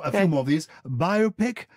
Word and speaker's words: biopic: few more of these biopic do you pronounce that biopic well that's big debate um yes it should be biopic everybody talks about biopics